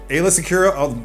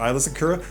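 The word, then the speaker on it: Aayla Secura: nine years ago uh ayla sakura some people pronounce her eyelash accura but they're wrong is a twilight or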